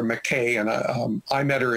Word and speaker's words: McKay: in in Raleigh so Americans call her McKay and um I met